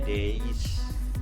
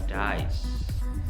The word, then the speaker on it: days: Kemudian ada hari, days, bacanya days bukan dies, ya. 3 days, salah, harusnya 3 days, ya, jadi vokalnya A bukan I.